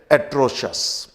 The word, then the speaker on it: atrocious: अब हम लोग थोड़ा सा डिफिकल्ट लेवल के वर्ड्स पे चलते हैं, और इनमें पहला एक शब्द है एट्रोशस। मैं थोड़ा इसका प्रोनाउंसिएशन के बारे में बता दूं।